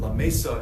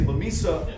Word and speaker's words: La Mesa: to La Mesa Texas we pronounce that La Mesa in El Paso but there they say La Mesa if you rule cotton-growing